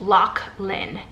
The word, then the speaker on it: Lochlan: it's it's spelt El och LAN but it's pronounced Loch Lynn and it's like an old Viking name and